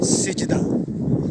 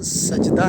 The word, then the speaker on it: سجدہ: आज का लफ्ज़ है सिजदा। सिजदा आम तौर पे हम इसको गलत प्रोनाउंस कर रहे होते हैं। इसका तलफ़्फ़ुज़ सजदा नहीं है, सिजदा है।